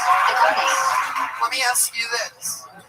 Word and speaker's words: agave: correct pronunciation, Agave.